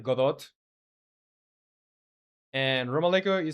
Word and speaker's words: Godot: translates to like very well, it would be Godot.